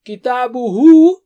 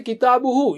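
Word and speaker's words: كتابه: Kitabuhu is his book. So you don't say kitabuhu, you just say kitabu.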